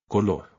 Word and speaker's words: color: This word doesn't end in a vowel, N, or S, and has no accent, so the stress is on the last syllable. Color.